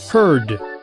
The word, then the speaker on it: heard: it's a bad precent in American English this sound is pronounced with more of an R quality turning it into heard first let's compare everyone